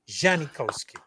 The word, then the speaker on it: Janikowski: Janikowski.